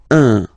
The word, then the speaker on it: un: and without any doubt, but you've got to pronounce it like un. So it's what we call the nasal, so it goes in your nose, okay? So if you listen to me, you don't hear any N, okay?